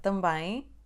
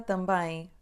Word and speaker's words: também: Então, a palavra também tem duas sílabas. Tão bem. Na primeira sílaba, por causa da letra M, depois da letra A, temos o som A nasal.